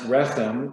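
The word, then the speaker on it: רחם: In Hebrew, the word for compassion is rachamim, from the Hebrew root resh chet mem, pronounced rechem, meaning womb.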